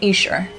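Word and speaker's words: Esher: Heights and George in this expensive bungalo and iser thank you to everybody who corrected my pronunciation as a quick aside I think it's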